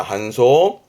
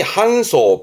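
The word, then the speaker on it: 搬送: 발음은 한소입니다. 한소. 그러니까 택배를 되돌리는 반송의 한자가 아니에요. 혹시 반품하고 되돌리는 반송 아실 것 같으면 댓글에 적어보시죠. 한자 확인해 드릴게요. 그런데 지금 이 한소, 반송이라는 것은 운반해 보내는 거니까 지금 그림처럼 많이 접하게 됩니다.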